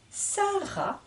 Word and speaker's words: Sarah: se prononcent pas donc le prénom Sarah à la fin peut s'écrire avec un H et le h M on n'entend pas la lettre H mis pareil le s